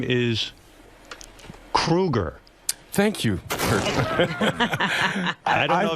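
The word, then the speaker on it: Kroeger: And Chad, you know, your last name is Kruger. Thank you. I don't know if been you know pronouncing that.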